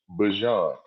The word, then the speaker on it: Bijan: other two are Alvin Kamara and we have been saying Bijan's name wrong this entire time. I seen him on the interview. It's Bijan, like Bijan. the mustard.